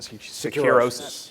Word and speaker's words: Securosis: In addition to his role at DevSecOps, Mike is the analyst and president of, how do you pronounce that? Securosis.